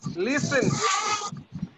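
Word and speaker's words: listen: Nitin লিসেন, এটা উচ্চারণটা হবে লিসেন, টি এর উচ্চারণটা হবে না, সবাই বলো লিসেন। টি এর উচ্চারণটা হ্যাঁ টি এর উচ্চারণটা হবে না, টিটা উঠতে থাকবে লিসেন।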